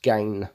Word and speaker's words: Gain: Now, I actually had to ask him how to pronounce his name because I just didn't have a clue. And it's French, and he put it on Google, and I actually had to use Translator to hear how his name is spelled. So we figured it out in the end, and it is pronounced Gain.